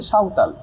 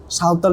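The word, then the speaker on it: সাঁওতাল: এখানে লেখা আছে বাট এটা হচ্ছে একচুয়ালি বাংলা উচ্চারণ হবে হচ্ছে সাওতাল রেভলেশন মানে হচ্ছে বিদ্রোহ ঠিক আছে তাহলে সিধু এবং কানুর মত নেতারা নেতৃত্ব দিয়েছিল সাওতাল বিদ্রোহেতে ঠিক আছে দেয়ার বাই ফলে হাইলাইটিং উল্লেখ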